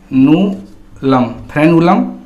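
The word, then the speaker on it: frenulum: ठीक है, इस फेनुलम को इंग्लिश में लिखते हैं हम फ्रेनुलम लिंगुअल। ठीक है, इसमें यहाँ पे आर है वो साइलेंट होता है।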